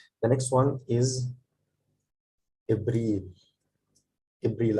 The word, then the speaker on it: إبريل: إبريل. I have this Hamza under the alif. It means that it's pronounced A.